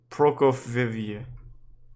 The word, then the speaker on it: Prokofyeva: Prokofyeva. Yep, that's how you say it.